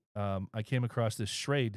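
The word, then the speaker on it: Schrade: I came across this shade I think that's how you pronounce it s CH uh r a d e uh shade uh knife and I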